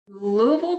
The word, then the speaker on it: Louisville: Louisville, Kentucky. All right, everybody, you heard the official pronunciation of Louisville.